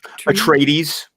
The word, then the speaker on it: Atreides: Atreides, Atreides, okay.